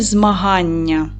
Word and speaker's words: змагання: В якому слові цей звук подовжений? Правильно, у слові змагання.